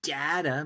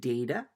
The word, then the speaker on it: data: So let's make sure we understand what the word data means. Now, some people pronounce it data or data. It's kind of like tomato, tomato. So data, I say data.